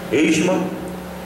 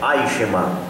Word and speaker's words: Eichmann: Hitler, Mussolini, Eichmann e Stalin. Agora eu falo Eichmann porque a gente aprendeu assim na mensagem, mas o nome do homem, a pronúncia é Eichmann, Adolf Eichmann.